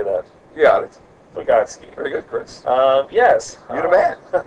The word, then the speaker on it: Vygotsky: Yeah, Vygotsky. Very good, Chris. Yes. You're the man. Well, I can't pronounce it.